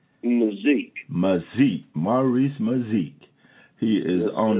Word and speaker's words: McZeke: How you pronounce that last name? McZeke.